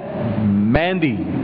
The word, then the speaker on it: مہندی: امام کا لقب ہے مہدی، اور وہ چیز جو رنگ و خوشبو کے لیے استعمال کی جاتی ہے وہ ہے مہندی. میم ہے نون، مہندی.